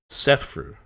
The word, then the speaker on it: Szefru: trying to remember how to say it uh sethu right yes okay that's all that matters I